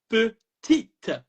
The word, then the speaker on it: petite: it's going to sound petite. Petite. The E is going And to allow the T to be pronounced.